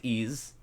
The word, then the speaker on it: Ys: Nome uh with ease it's pronounced ease all right because it's